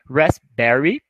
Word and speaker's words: raspberry: Framboesa, raspberry, é como se você quase não pronunciasse o P, raspberry.